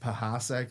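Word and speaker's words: Pechacek: By the way, I've heard it pronounced Pahasek now.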